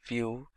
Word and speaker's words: Vue: complete web application solution vue.js is commonly referred to as View and pronounced as vuejs or view is rightly so now